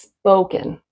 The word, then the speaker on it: spoken: I think I heard spoken like ah but it's spoken.